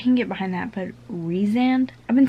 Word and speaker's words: Rhysand: Farah and Rhysand.